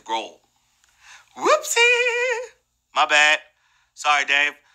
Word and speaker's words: Grohl: and fighters Nate Mendel I think I said grow last name wrong his Grohl whoopsy my bad sorry